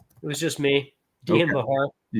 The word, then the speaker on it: Bachar: Dian Bahar. You got it. And Bahar is spelled B A C H A R.